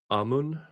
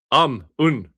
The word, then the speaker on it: Ammon: Oh, it's his name is pronounced like amun amun.